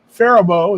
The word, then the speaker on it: Faribault: Kevin says it's Faribault is a pronunciation.